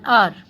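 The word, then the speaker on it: hour: एंड the next is he stayed in माई हाउस फॉर एन आवर। वो ठहरा मेरे घर में फॉर एन आवर, 1 घंटे के लिए। तो आर जो है एच वो क्या है, साइलेंट।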